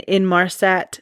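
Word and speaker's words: Inmarsat: still automatically pinging and in Marsat satellite system. I might have pronounced that wrong, but it's I N M A R SAT.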